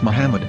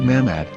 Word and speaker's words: Muhammad: English dictionary it is correctly pronounced as Muhammad not mammad so how we're going